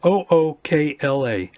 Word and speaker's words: Ookla: So my ISP uses a speed app called, it's spelled OOKLA.